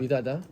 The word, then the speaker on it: Itata: El Esa es la boca de Itata. Itata.